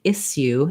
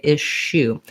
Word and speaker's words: issue: the word issue uh we don't say isu in american english we say ishu so the sh sound